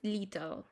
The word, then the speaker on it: little: Es como little. La T y la doble T es como si se convirtieran en una R. ¿Sí? Little. En inglés británico es little, ¿no?